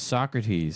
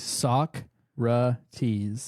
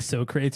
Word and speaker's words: Socrates: name is his name his pronunciation is Socrates sock ra tease yeah Socrates so I'm correct yeah Socrates okay look at this spelling and then you saying so creates with us up here